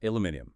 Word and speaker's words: aluminium: The sources kind of hinted that saying aluminium with all the syllables can sound a bit formal, maybe slightly posh to Americans. Maybe a little. And aluminum might sound, I don't know, abrupt to a Brit.